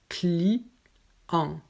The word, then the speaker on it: client: Ensuite, pour les noms communs, le ENT se prononce et le son est en. Donc on ne prononce pas le T, mais le son est en. Donc ici, on a client, argent, amusement. Donc on prononce le ENT avec en.